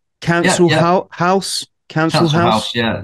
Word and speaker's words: Cancel Haus: Cancel House? Cancel House? Yeah, the house is spelt the German way. Yeah. H-A-U-S, and it's not your council tax way. It's like council culture way.